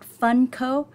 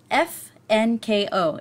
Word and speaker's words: FNKO: And also in the Zoom room, we have FNKO tonight. It's FNKO. No, it is not Funko. It is pronounced FNKO.